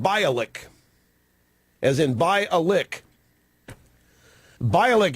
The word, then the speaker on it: Bialek: Gloria Allred says that her name is pronounced Bialek, as in Bialek. Bialek, it's B-I-A-L-E-K. I assumed it was Bialek. But Gloria Allred says her name is Bialek, as in Bialek.